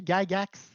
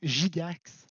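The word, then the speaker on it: Gygax: créé par euh Gary gagax ou Gigax selon comment vous le prononcez et Dave arnens armson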